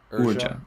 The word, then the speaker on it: Urja: Urja. Thank you. Urja. How do you Ugra. spell that?